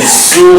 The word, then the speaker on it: Seoul: I was telling that joke one time in Seoul, South Korea. Seoul. Yeah, it's pronounced Seoul.